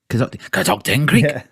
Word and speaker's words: Catoctin Creek: like American, or American, or is it Cacto King Creek? How do you say it? Catocting Catocting Creek, like that.